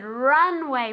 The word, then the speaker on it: runway: this Runway very good Runway with accent um with the accent on the first syllable Runway one more time